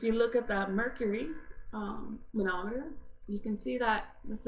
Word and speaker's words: manometer: So water is the manometer, is how you say that word, and we'll get into that too.